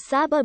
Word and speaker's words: Sabah: due to local dialect the word sabah has been pronounced as sabha by the local community while brunei was a